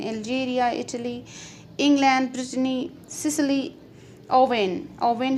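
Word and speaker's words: Rouen: He traveled extensively in Algeria, Italy, England, Brittany, Sicily, Owen है इसकी pronunciation.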